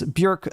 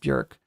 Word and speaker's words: Björk: Bjork, sorry, her name is actually pronounced Bjork.